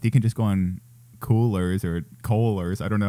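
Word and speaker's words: Coolors: also kind of quick it's called coolers or colors but it's spelled c-o-o-l-o-r-s and basically it's a cool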